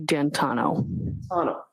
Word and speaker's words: D'Antuono: How do you pronounce the name? It's Ricky D'Antano.